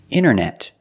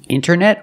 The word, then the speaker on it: internet: You have NT in the middle, the T is silent. Other examples, internet. Internet or internet.